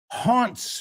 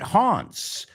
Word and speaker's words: haunt: Haunt rhymes with taunt.